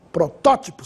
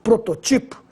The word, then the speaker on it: protótipo: o mesmo vai acontecer também com protótipo você tem que pôr o assento no segundo o porque ela é proparoxítona protótipo sem acento eu teria que ler prototipo e a última súbito aí